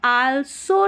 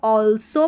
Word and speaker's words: also: They ऑल्सो, यहाँ पर आल्सो नहीं पढ़ना है, इसको ALSO को ऑल्सो पढ़ते हैं, ऑल्सो DEVE, डेवलप, ठीक है, डेवलप डेवलप या डेवलप, दोनों तरीके से प्रोनाउंस कर सकते हैं।